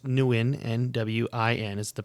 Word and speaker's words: Nguyen: okay so development wise dong nguyen and it's pronounced nuen and w-i-n is the pronunciation it's spelled n-g-u-y-e-n